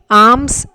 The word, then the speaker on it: alms: Alms, here A-L-M-S, L is silent, we pronounce it as alms.